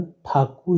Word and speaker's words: ठाकुर: बंगाली उच्चारण बंगाली भाषा में इस शब्द का उच्चारण ठाकुर ही किया जाता है।